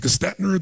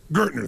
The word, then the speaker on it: Gertner: And they brought in I don't know how to pronounce his name. It was Gestetner, the gentleman who came in, who was like the major turnaround guy. What's his name? Gertner, thank you.